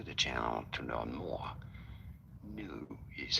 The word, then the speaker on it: GNU: New is how it is said. The G is silent.